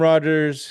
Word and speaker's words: Rogers: Yeah, so this is Rogers. Yes, it does rhyme with your LA Dodgers for Dodgers 2080.